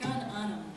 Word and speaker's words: Gan Ainm: How do you pronounce it? Gan Ainm.